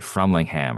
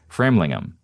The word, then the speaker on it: Framlingham: He grew up in the small town of Frammlingham cuz I mispronounced it on the episode. I said Frammlingham or something weird. Framlingham about 15 miles from where Ian lives.